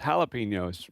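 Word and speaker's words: jalapeño: And she chuckled and said, "That's jalapeno." No, I'm looking at it right here. It's a J. Jalapeno. She said, "Well, in Texas when you see a J, often times it's pronounced with an H."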